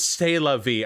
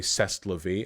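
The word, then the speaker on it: c'est la vie: if that necessarily say i know it's stella v okay wait sorry that was my bad because i mispronounced things accidentally all the time with my friends back in high school i would say cest la vie as part of an ongoing campaign to mispronounce as many french words as possible um we would say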